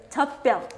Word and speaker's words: 젖병: 젖병, you write it as 젖병, but you say it as 젖병. 젖병. 젖병. 젖병 is the natural pronunciation.